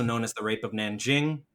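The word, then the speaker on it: Nanjing: as the rape of Nan Jing the rape of Nan King that's an archaic you know improper pronunciation 200 to 300,000 civilians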